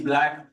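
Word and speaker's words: Blaq: my name name is black um it's spelled b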